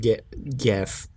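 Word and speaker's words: Goethe: name go go go get i think it's pronounced get gaff g-o-e-t-h-e yeah is referenced in the episode but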